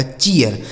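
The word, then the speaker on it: cheer: आगे सी H double E आर, तो सी एच से हो गया चौ, डबल ई का उच्चारण ईया, आर से हो गया र लिखा गया चियर।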